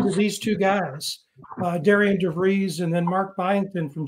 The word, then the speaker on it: DeVries: I heard him say on the radio the other day that it was pronounced, I think they said Darren, I believe is what they said, but DeVries or DeVries.